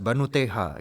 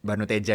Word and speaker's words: Bhanuteja: Wah ini Banuteha gitu. Dia ngiranya Banuteja itu dibacanya H kayak orang Latin.